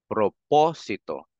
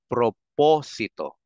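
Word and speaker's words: propósito: meron tayo apat din So kung nasang syllable yung tilde doon natin lalagyan ng emphasis so ang basa natin dito guys ay prop ito proposito Meron akong narinig kasi na mga ah Pinoy m nakasama ko sa trabaho minsan pag bigkasin nila yan proposito no pati yata sa mga mga movies or palabas na Tagalog May naririnig ako eh proposito Mami ikang mga proposito etc Hindi proposito proposito kasi ang tilde niya nandun sa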